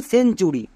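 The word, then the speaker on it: century: চলো প্রথমে আমরা একটি টিপস দেখে নিই যেমন সেঞ্চুরি এখানে দেখো টি এর ঠিক পরে ইউ আছে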